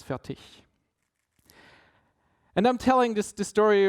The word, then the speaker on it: Fertig: Because from the part in Germany where I'm coming from, I say it's Fertig, with more or less a K at the end, while in proper German it's Fertig.